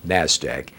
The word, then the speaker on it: NASDAQ: Now abbreviated, that's NASDAQ, and pronounced just like it's spelled, NASDAQ, or the OTC market.